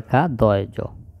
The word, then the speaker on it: খাদ্য: খাদ্য, খ আকারে খা, দয়জ, খাদ্য।